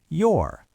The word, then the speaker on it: you're: You are becomes your.